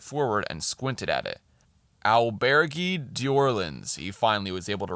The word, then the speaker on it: Auberge d'Orleans: "Auberge d'Orleans," he finally was able to read. Um, and I said it like that mainly because the book says that is how he pronounced it.